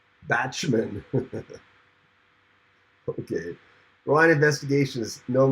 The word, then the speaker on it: Bachman: really keyboard Chronicles Randy is lying it's actually pronounced batshman okay Ryan investigation is no Merc no Grand